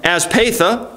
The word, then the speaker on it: Aspatha: Aspatha is the way it says it's supposed to be pronounced.